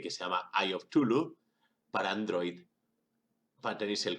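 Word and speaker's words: Cthulhu: y la t eh básicamente lo vamos a llamar tulu porque según decía lacra el aparato fonador humano era incapaz de pronunciar ese nombre es un ente un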